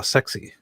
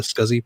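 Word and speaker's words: SCSI: least was there not some sort of a push to try to pronounce that uh as sexy as csi and eventually lost to the scuzzy pronunciation you know i i think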